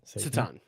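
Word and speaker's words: Šatan: Is it actually pronounced Satan? Miroslav Satan? Satan.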